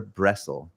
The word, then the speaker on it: Bressel: How do I pronounce it, Dagmar? Is it Bressel or Bressel?